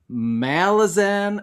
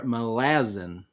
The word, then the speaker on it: Malazan: Is it Malazan or Malazan? So there's one thing I know for certain. Malazan is the wrong pronunciation. It's just too late. I've already jumped down the rabbit hole and I've Right. decided Malazan's how I'm saying it.